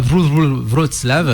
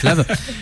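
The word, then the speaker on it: Wrocław: le 1er octobre à Vrolave, ça se prononce Vlave, euh le 2 à Berlin, le 3 à Cologne, le 6 à Londres.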